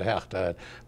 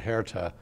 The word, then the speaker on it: Hertha: We pronounce it Hertha. Many people pronounce it Hertha Cohn.